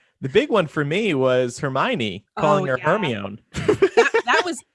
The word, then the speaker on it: Hermione: Like some people told us it was Hermione. Some people told us it was Hermone. Hermone. Yeah. It honestly wasn't until I don't think it was until the movies came out that I learned the right way to say her name.